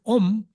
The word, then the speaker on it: om: you pronounce it differently when you say om you uh pronounce it by using the suffix ma by closing your lips om but when you